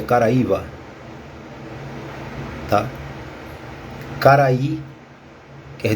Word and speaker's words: Caraíba: que é que significa o termo Caraíba e no tocante que se pronuncia Caraíva Ah tá cara aí